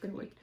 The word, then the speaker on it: Cittlewick: Oh, so on the Rosewood Manor website, there's a note that said Cittlewick green, like with a K. It said pronounced Cittlewick.